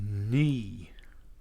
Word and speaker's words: knee: have different types of knee okay now when I say that I don't mean we are the knights who say KNE I mean knee spelled like that like the knee on your leg okay now compressors have